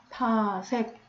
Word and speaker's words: 파섹: 이 단위를 파섹이라고 읽습니다. 파섹. 자, 그러면 여기서 방금 선생님이 세타를 넣을 때 이 옆에 점 2개가 있어요?